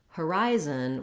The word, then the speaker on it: horizon: have the word horizon we have second syllable stress that means the rise syllable has a clear vowel it's held longer and the other two syllables are reduced have reduced fouls and are shorter so even though we